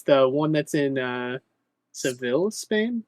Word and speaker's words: Seville: in uh Seville Spain is it sevil is that how it's pronounced um in Spanish at least my Spanish is called SE SE okay or SE yeah se but you can just call it seile or seil it's it's fine anyways um dude they're